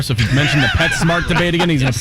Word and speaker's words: PetSmart: Petsmart official Twitter account tweeted in 2018, it is Petsmart. Okay. P-E-T, capital S, M-A-R-T, one word. And just for clarification, they go, pronounced Pet Smart.